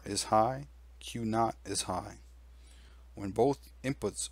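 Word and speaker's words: Q̄: Q with a dash on top is pronounced Q not.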